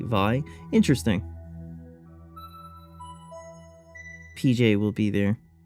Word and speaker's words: Vay: Japanese pronunciation is like in vitality. Vi interesting.